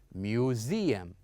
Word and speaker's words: museum: We would uh say it or we're going to pronounce it as zed. So we would say museum.